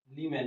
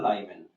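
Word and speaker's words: Lyman: যেমন এটার নাম হচ্ছে লিম্যান বা লাইম্যান, লিম্যান বা অনেকে বলে লাইম্যান।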